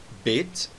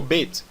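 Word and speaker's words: בית: Notem que eu falei Bet e não Bet ou Bet, tá bom?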